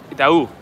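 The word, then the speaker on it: Itaú: The accent on the U is going up, which means it's Itau.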